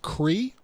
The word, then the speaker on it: Cree: it okay day and your last name is pronounced Cree CRE C REE REE